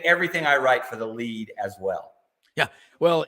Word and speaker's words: Lede: And I do write a weekly column in the Birmingham Lead, and Lead is spelled LEDE.